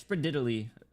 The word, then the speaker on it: Sprawiedliwy: All right, it's Sprawiedliwy. Um Did I even finish that line? I've been appointed by the Adeptus Sprawiedliwy.